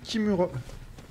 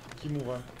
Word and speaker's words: Kimura: Yui Kimura. Kimura. Je sais pas comment on dit exactement, mais... Ok. Bonsoir madame. Tu te soignes déjà? Kimura pour la prononciation.